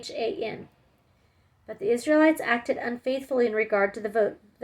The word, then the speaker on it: Achan: I'm not sure how to pronounce it. It's Achan.